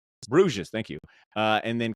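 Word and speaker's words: Bruges: Bres Brues.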